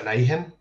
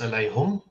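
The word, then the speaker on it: عليهم: So, as an example, if you take the word upon them, in most reading traditions, that's pronounced as alayhim. But in one reading, it's pronounced alayhum, and in another one, it's pronounced alayhimu, or two other ones, actually, within the canonical transmissions.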